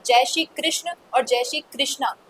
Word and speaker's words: कृष्ण: तो मतलब जिस जिसमें आकर्षण है उसको कृष्ण कहते हैं। तो अब अगर हम किसी स्त्री को कहेंगे तो कृष्णा कहेंगे। पुरुष को कहेंगे तो कृष्ण कहेंगे। तो ये ग्रामेटिकल बात है। और कई बार स्पोकन उच्चारण की भूल में ऐसा प्रतीत होता है। अगर हम व्याकरण की दृष्टि से शुद्ध बोले तो कृष्ण बोलना चाहिए।